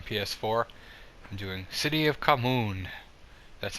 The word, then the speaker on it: Khamoon: I'm doing City of Khamoon. That's how you pronounce it.